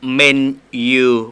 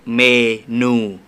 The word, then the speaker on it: menu: เพื่อน ด้วย ตัว นี้ ถ้า เกิด อ่าน เสียง ให้ ถูก ต้อง อ่าน ว่า menu ไม่ ใช่ เมนู โอเค โอเค very good